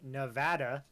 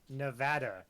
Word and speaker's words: Nevada: grew up in Nevada it is Nevada it is not Nevada that is the improper way to say that I don't care who you are where you are that's not how you say it so that's just a